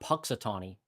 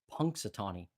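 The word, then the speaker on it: Punxsutawney: is basically punks Satani it's not patani it's pun Satani I think I'm saying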